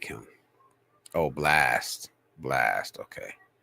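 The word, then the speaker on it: Blxst: Oh, Blast, okay. Blast, but it's spelled. I don't know why. Just say I don't know why you have to make it with the X in it, bro.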